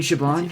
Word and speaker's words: Siobhan: you have you seen Siobhan here I was about to ask you that Siobhan with a V by the way is how you pronounce it what did you go